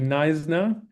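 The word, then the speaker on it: Knysna: um first Jewish settlements in Africa going to Nisna. This is how you pronounce this um city um Nisna.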